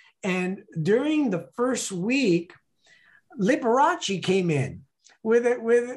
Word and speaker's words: Liberace: thank you so much we called them libraries because i don't know how to pronounce his name but i don't know it's liberace not vibration that's awesome oh my